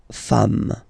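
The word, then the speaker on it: femmes: the singular form and then you just add this S at the end and as we said you don't pronounce it so you get de fam okay all right and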